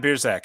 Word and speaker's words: Biersack: once every couple months oh wow so beerzak am i pronouncing your last name right you are good